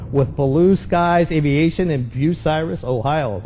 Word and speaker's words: Bucyrus: She's a flight instructor with Blue Skies Aviation in Bucyrus, Ohio. I said it right, right? Yes, you did. I didn't call it Bucharest? No, or or Bucyrus.